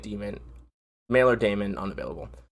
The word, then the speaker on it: Daemon: This is a hell of a secondary weapon choice, so they're pronouncing it Demon.